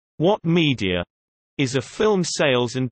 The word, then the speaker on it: Ouat Media: OUAT Media, pronounced What Media, is a film sales and distribution company founded in 2006 that specializes in short-form content.